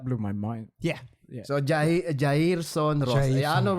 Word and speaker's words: Jairson: Look, it's simple. Jairson. You know.